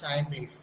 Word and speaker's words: Thymeleaf: அந்த டெம்ப்ளேட்டோட பேரு தான் டைம் லீஃப். என்ன பேரு? எஸ், டைம் லீஃப்னு சொல்லுவாங்க. சரி, அதை ப்ரொனவுன்ஸ் பண்றது டைம், டிபெண்டன்சி தான்.